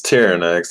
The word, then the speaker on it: Tyerenex: I mean, how is it supposed to be pronounced? It's Tyerenex.